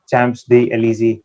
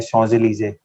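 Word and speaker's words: Champs-Élysées: मैं वहाँ पे एक कोई स्ट्रीट है चैम्प्स डी एलिजी, मैं वहाँ पे ऐसे बोला था और वो है शॉन्ज़-एलिज़े.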